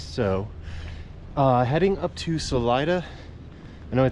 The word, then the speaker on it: Salida: was pretty nice so uh heading up to salida i know i said solida in earlier videos but it's pronounced salida getting better at the pronunciation i hope and